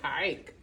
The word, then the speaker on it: hike: Because that E is silent. That E is silent. To make the I say his name. All right, so when we put I together, what do we get? Hi. Hike.